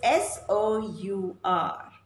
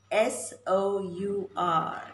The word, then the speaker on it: sour: The third word rhymes with these words. It's S-O-U-R, S-O-U-R, that strong taste. The acid taste that you find in lemons, the acid taste that you find in lemons, and it's pronounced as sour, sour.